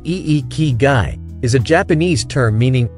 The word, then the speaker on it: Ikigai: definition of iy guy iy guy pronounced e ke guy is a Japanese term